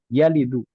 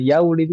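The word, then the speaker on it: يلد: Karena sebab itulah, karena fiqal itu, karena berat untuk diucapkan atau didengar, maka dihapus wawunya jadi yalidu. Walada bukan yaulidu tapi yalidu.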